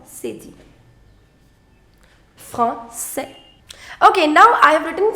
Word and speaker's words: français: Right now it is franqué. I want to change from franqué to français, which means French.